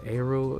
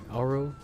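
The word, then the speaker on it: Aero: characters like Arrow um or is it Arrow it's spelled a-e-r-o Arrow yeah she's a pretty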